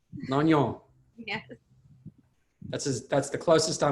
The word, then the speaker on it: Longnion: So how do you pronounce your last name? It's Longnion. There you go. Say that one more time. Longnion. Longnion.